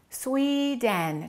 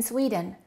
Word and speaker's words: Sweden: Sweden. Two syllables. Which one is stressed? The first one. Okay. What happens to the second one? Sweden. Sweden. Sweden. So don't say I am from Sweden. Say I'm from Sweden.